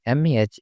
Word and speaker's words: め: め、め、 The pronunciation of character me in Japanese is something like the combination of meh in English.